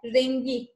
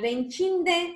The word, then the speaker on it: rengi: Rengi, renginde. Yani renkinde demiyoruz. O K sesini G harfine çevirerek yazıyoruz ve telaffuz ediyoruz gençler.